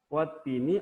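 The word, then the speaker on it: وَالتِّينِ: Kalau alif wattini alif lamnya dan ibaratnya bintang, taknya ibaratnya matahari, maka tidak terlihat alif lamnya. Wattini.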